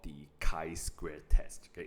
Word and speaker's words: chi-square: We'll be looking at something called the chi-square test. Okay, it's read as chi-square, right? Not chi-square. So as bio students, please know how to pronounce this.